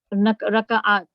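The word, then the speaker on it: ركعات: Note that the Raka'at. Note that the second letter ka has sukoon in the singular and fatha in the plural.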